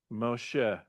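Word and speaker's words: משה: So this is a mo, she, right? Moshe.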